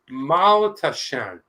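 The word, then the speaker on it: Maultaschen: It is pronounced Maltaschen.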